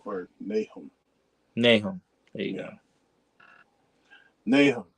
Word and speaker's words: Nahum: Nahu or Nahum? Nahum.